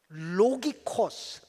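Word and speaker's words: λογικός: 원문에 사용된 단어는 로기코스 라트리아 이렇게 돼 있습니다. 로기코스 라트리아이 발음 되게 어렵다.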